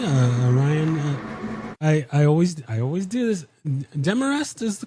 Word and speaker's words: Demarest: Demarest is the correct pronunciation? Okay. Yes, sir, correct. I always freak out about names, and then I never ask beforehand, but right Demarest, the whole 9 yards.